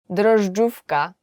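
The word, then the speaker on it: drożdżówka: So my name is and today we will learn 10 hardest words to pronounce in Polish. So are you ready? Let's go. Yeast cake. Dufka.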